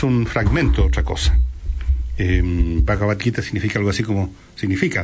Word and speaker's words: Bhagavad Gita: India que se llama Bhagavad Gita. Se escribe B larga H A G A B corta A D, Bhagavad, y Gita, o Gita sería mejor, G I T A, Bhagavad Gita.